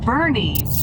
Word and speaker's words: Boerne: the Texas Hill Country called Bernie now you may be tempted to pronounce it boern but it is not it is Bernie n I'm still going